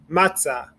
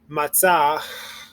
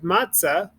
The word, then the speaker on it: matzah: ha we don't we don't breathe in the h at the end it's we really just this kind of it's um it's pretty much it's silence so we don't make the h sound same thing here matzah it's not matzah where we breathe in but the h becomes the hey excuse me becomes silent okay so let's go